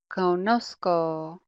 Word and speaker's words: conozco: Notice the spelling change in that yo form as well. Conozco. And we do that because we want to keep it sounding like conocer. We want that soft C sound, right? So they do a spelling change here to keep that soft sound.